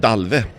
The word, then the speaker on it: Dalvi: little bit about the how do you say that Dalvi we pronounce it dolphin difficult it's a old